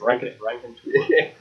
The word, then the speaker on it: raconteur: It's like Rankin Bass. Raconteur.